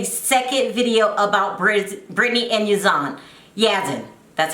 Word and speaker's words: Yazan: I'll meet you guys in the comment section after I make a second video about Brittany and Yazan.